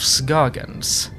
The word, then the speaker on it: Scoggins: The people of Scoggins, that is how you pronounce it.